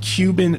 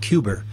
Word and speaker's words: Cuba: President Kennedy pronounced it Cuba, not Cuba.